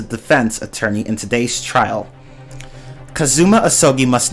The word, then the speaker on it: Kazuma: allow me to summarize kasuma sorry kazuma i keep pronouncing it with an s sound kazuma ahsoki must not